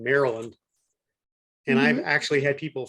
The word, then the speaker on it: Maryland: had people call it Maryland. Really? Because they read it instead of heard it. Right, because they read it phonetically, which is Mary. It's spelled Mary Land, but it's pronounced Maryland.